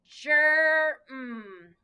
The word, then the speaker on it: germ: So we have G-E, so we know it's going to be the soft G. So we are going to sound it out as germ.